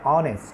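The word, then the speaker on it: honest: যেমন an hour Bhawal sound দিয়েছি, যেমন অ্যান অনেস্ট Bhawal sound. H এর উচ্চারণ আমরা করে অ্যান অনারেবল পার্সন আমরা ভাওয়াল সাউন্ড দিয়েছি, এইচ এর উচ্চারণ করে না।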